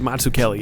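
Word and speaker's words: Mazzucchelli: In 1986, Marshall, Frank Miller and David Matsuklli. Yep, good job. You got it right. I shouldn't I probably shouldn't do the accent. Maybe not the accent, but Matsuk Kelly is the correct pronunciation.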